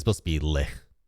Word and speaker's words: lich: I can't not pronounce it lick now. Lich.